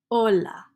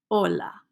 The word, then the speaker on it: hola: of all is Ola Ola don't pronounce H's in Spanish is just Ola you can say Ola